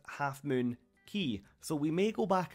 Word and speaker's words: Half Moon Cay: of the island as half moon cave however after doing some research it turns out the name should be pronounced Half Moon key so we may go